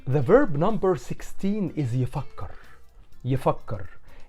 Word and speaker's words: يفكر: It's the same but with some slight changes in the pronunciation.